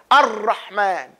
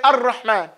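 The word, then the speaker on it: الرحمن: As opposed to those people who improperly pronounce the raw. And they push it too close and the tongue touches the teeth. Ar-Rahman. No, we don't say that. We say Ar-Rahman.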